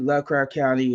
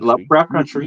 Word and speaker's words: Lovecraft Country: you you you did Lovecraft County and Creed and you had some stuff country pronounce it right Lovecraft country know I'm saying you